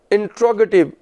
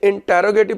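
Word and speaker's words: interrogative: फिर तीसरे होते हैं इंट्रोगेटिव जुमले, यानी सवालिया जुमले। भाई इंटेरोगेटिव प्रोनाउंसिएशन नहीं होता, इंट्रोगेटिव होता है।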